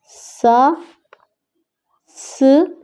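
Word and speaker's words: سانس: सांस सीन के साथ अलिफ और नून जो है वो साइलेंट होगा क्योंकि नून के ऊपर गुन्ना है ये, तो इसको हम नहीं पढ़ेंगे। सा स सांस।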